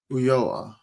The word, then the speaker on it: Ulloa: It's Ulloa. Uyoa. Yeah.